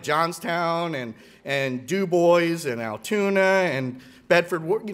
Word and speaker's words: Dubois: i learned where towns like johnstown and and dubois and altoona and bedford you know i got